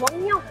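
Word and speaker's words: 공룡: Ting itu adalah dinosaurus Tapi bacanya betul itu gongnyong oh gongnyong karena kalau misalkan konsasir yangeng atau miem terus ketemu R di setelahnya rnya jadi n Oh jadi gongyol betulah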